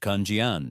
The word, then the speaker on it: 看见: What does the word kjan pronounced kjan mean?